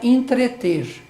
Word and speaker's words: entreter: entreter, mesmo falando correto, fala entreter, que se fala colocando esse I. Normalmente, quando esse E ele é átono, ou seja, não recai sobre ele a acentuação gráfica ou a tonicidade, ele é pronunciado como I.